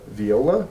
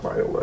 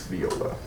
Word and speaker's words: viola: uh he's learning VI Viola that's how you say it I it's not Viola it's Viola just um the more you